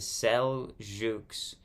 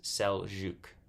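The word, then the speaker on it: Seljuks: Sue LG Turks but I'm seeing s-e-l-j-u-k-s cell Juke and that's how I'm gonna pronounce it the Crusades new heading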